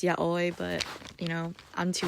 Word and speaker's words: yaoi: two um BL or yahi or whatever and I know it's not pronounced yahi it's yai but you know I'm